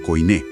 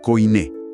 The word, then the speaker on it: koiné: Y esa imagen del mercado es vital para entender el concepto del griego koiné. Para quienes no tienen experiencia previa con estos términos, la pronunciación es súper sencilla, se dice koiné.